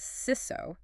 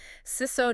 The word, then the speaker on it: CISO: Throughout this conversation, we're going to be pronouncing CISO as SISO, rhymes with his so. We're not going to spell it out CISO every time. SISO just sounds more like